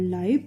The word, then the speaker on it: live: part of the world live, pronounced, rhyming with hive.